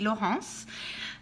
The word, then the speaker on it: Laurence: cats my name is Lance I'm from France so if you want to say it correctly that would be low horse I will not you